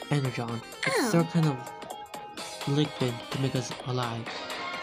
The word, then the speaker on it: Energon: let's go on a mission to get circular energize it's pronounced Energon LinkedIn to make us alive anyways we gotta